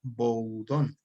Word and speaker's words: Boudon: Cuando no sepan pronunciar la palabra en el idioma original, es válido españolizarla, es decir, decirla como suena en español. En este caso sería boudón. ujú, bueno, Bowden.